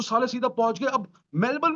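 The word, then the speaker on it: Melbourne: वो तो साले सीधा पहुंच गए, अब मेलबर्न भी पहुंच गए भाई। पहले तो लॉर्ड्स ऑफ मेलबर्न भी पहुंच गए। और उसको बोलना भी नहीं आता, वो मेलबर्न नहीं बोलता, मेलबॉर्न। मेलबॉर्न। मेलबॉर्न बोल रहा है भाई।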